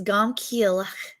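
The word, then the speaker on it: גם כי אלך: Now, if you want to know how you say it in Hebrew, that whole first phrase, even though I walk, is gam kielach.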